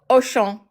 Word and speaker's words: Auchan: Auchan? The supermarket. Auchan. Auchan. Sorry. Auchan. Auchan. So, it's not A, it's O.